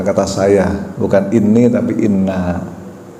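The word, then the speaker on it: إنّا: Sesungguhnya kami, menggunakan kata kami ya, bukan menggunakan kata saya, bukan ini tapi inna. Nunnya ada alifnya panjang dibacanya.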